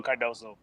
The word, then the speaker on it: Cardozo: up what um what cardosa me they just said and you know chris that's how you say it right there ah that's correct chico's boys to man there you go cardozo there you go good